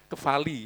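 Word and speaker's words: κεφαλή: itu Kristus kepala itu bahasa Indonesia tulisannya kepale tapi PH itu bacanya F ke vali sama ya ke vali mata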